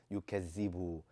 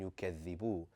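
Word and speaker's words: يكذب: A lot of us have grown up saying allazi, yukazzibu. And what is it that differentiates that from saying alladhi and yukazzibu?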